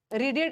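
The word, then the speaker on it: read: But present tense में इसको रीड पढ़ते हैं। पास्ट टेंस में रेड और वी3 में भी रेड। बट स्पेलिंग सेम होता है।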